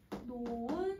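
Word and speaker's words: 놓은: 그러면 이걸 우리 노흔이라고 발음하지 않죠? 여러분 이거 발음 어떻게 해요? 노은 상태다. 히읗 탈락시킬 거야.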